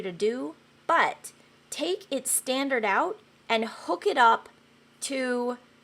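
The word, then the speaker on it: stdout: results to a place called standard out and that's spelled all caps STD o u t yes standard out that's what they call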